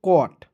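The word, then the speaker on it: caught: और साथ में दोस्तों जी एच को साइलेंट रख दीजिएगा ठीक है यहां पर दोस्तों जी एच जब भी दिखेगा तो वहां पर आपको जी को साइलेंट रखना है तो क्या हो गया कोट क्लियर चलिए उसके बाद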